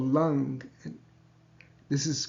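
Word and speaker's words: लं: die critical mark on the M but we pronounce it lung longing and this chakra has each of the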